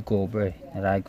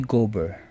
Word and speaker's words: Gobert: Tama pag-pronounce nito, Rudy Gobert. Lagi ko naririnig sa NBA, Live to. Rudy Gobert. Silent T.